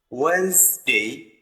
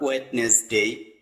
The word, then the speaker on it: Wednesday: Tuesday Tuesday not Tuesday just say Tuesday Tuesday Wednesday Wednesday not wetness day just we say Wednesday Wednesday in this word